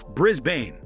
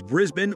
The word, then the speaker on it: Brisbane: Well, this is quite airiness and it all boils down to different phonetics, the right way to say it as Oxford Learners Dictionary. Put it is Brisben or Brisban.